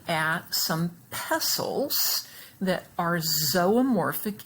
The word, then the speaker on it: zoomorphic: pause and do that please the word is pronounced zomorphic and morph that we see here on the